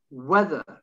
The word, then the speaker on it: whether: silent h what when where whether silent h if i was if i was to uh delete the h you would be pronouncing that exactly as it's as you've seen weather the next while rest